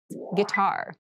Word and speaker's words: guitar: casual clothing casual clothing guitar this word has kind of an interesting spelling it starts with GUI but we pronounce this as git so a guitar is